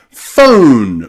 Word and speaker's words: phone: So, any word that you see with O-N-E or O-M-E usually means that magic E at the end has changed the O pronunciation to O, from O to O.